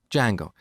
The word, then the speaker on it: Django: So it's spelled with a silent D and it's pronounced Django.